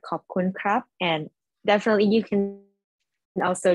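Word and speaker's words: ขอบคุณครับ: Okay, so in Thai, you have to say it like perfectly in the right tone. So just say khop khun ka or khop khun krap.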